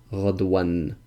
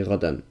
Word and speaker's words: غدا: And he says that some of the Arabs actually do pronounce it غدوان, but we say غدا.